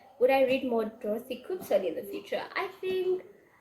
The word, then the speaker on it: Koomson: in kumson why do I keep saying her name wrong would I read more Dorothy kumson in the future I think there is I